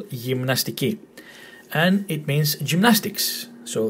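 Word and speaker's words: γυμναστική: Gymnastiki. Gymnastiki. This and this part might might sort of cause you difficulties. Mn, mn, m, n, mn. And this one here, gymnastiki. Again, emphasis on the last syllable, gymnastiki.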